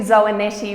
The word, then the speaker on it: Zoanetti: it's almost it's actually zoe nettie rhymes with spaghetti thank you very much